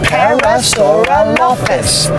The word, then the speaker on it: Parasaurolophus: Lates, that's 6 syllables. Yeah, shall we clap it out? Sure. Parasaurolophus.